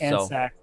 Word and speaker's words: Andscacs: So apparently P just told us Andscacs is from the country Andorra, and it would be pronounced like Sax, not Scax. Okay. So that makes us both feel better. Okay, Andscacs.